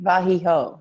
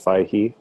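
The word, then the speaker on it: וַיְהִי: Okay, so this right here is 2 separate syllables. Do you see that line right next to the patak? Uh-huh. Yeah. That line is separating that as its own syllable. So it's va, Okay. yi. It's a Vayahi.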